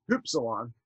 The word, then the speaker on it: upsilon: So how do we pronounce upsilon, which is actually in Greek was hupsilon, but so that would be hu, this would be, you know, that is the letter pi, right?